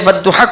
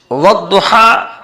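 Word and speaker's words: والضحى: کچھ بھی نہیں ہے، یہ اپنا میننگ پیدا کرتا ہے مگر تلفظ میں، لفظوں میں اس کی آواز نہیں آتی ہے، یہ سائلنٹ رہتا ہے۔ لہذا کوئی شخص اس کو والضحیٰ اور اذا سجا کو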